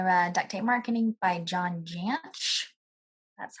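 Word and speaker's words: John Jantsch: I read Duct Tape Marketing by John Jansch. That's how you pronounce that.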